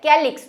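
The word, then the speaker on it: calyx: यहाँ पे हम भले स्पेलिंग में सी लिखते हैं, लेकिन प्रोनाउंसिएशन क्या है, कैलिक्स।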